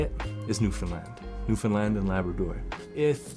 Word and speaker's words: Newfoundland: to to just confirm for everybody we say New Finland okay simple that was interesting because on my